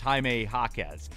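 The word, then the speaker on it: Jaime Jaquez: It's Jaime Jacquez. No, I I had a soccer basketball brain crosswire failure. Um I went full English pronunciation because it was basketball. Yeah. When I'm supposed to do the reverse.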